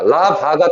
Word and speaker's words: larva: 그러니까 전통적인 견해는 뭐에 대한 거냐면 수동적인 라비라고 읽어. 자, 라바가 단수, 라베가 복수야.